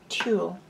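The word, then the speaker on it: tulle: the tutu and um this fabric is called tool and it's a sort of a fine net and it's spelled tu double l e trying to give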